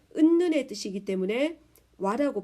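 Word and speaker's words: は: 은는이기 때문에 와타시와라고 읽습니다. 고래와 홍 데스. 소래와 케타이 데스. 아래와 토케 데스. 전부 다 은는의 뜻이기 때문에 와라고 발음합니다.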